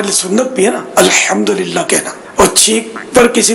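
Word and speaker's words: الحمد لله: الحمدللہ یہ بھی تلفظ درست کرنا ہے، الحمدللہ.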